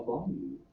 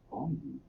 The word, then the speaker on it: bayou: A bayou is a southern waterway that mixes with the sea. It can be pronounced bayou or bayou.